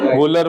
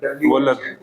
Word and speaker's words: Wöhler: in 1828 when Friedrich Wöhler, FRIED rich के spelling आते हैं करीबो, लिख लो, फ्रेडरिक ही हुआ, वूलर, WHLER, वूलर, WO, बोला एच लिख भी तो रहा हूँ,